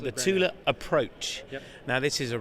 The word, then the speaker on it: Thule: Tula now regularly mispronounced is that the correct pronunciation uh that is correct yes it is not Thule it is it is Tula tula and a Swedish company yes I know